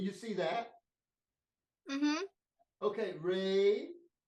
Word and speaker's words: re: Okay, re. It's spelled R-E because an Italian guy came up with this. And so in Italian, the E sounds like A.